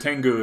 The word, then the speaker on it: Tengu: I said Tengu is how you pronounce that.